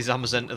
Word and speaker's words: Zamazenta: It's actually Zamazenta that's pronounced like Zack.